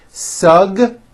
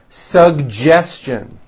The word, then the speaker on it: suggestion: educate educate next one suggestion this one's also a bit tricky suggestion SU suggestion very good now the American